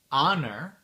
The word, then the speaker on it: honor: de mots en anglais où on prononce pas le H c'est le H muux ok donc j'ai une petite liste ici attendez les mots sont our leure air l'héritier Honor l'honneur exhausted crevé ou fatigué très fatigué vehicle